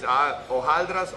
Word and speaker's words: hojaldras: Well, there's two ways, hojaldras or hojaldres. There's a little like discrepancy there on which is the right one.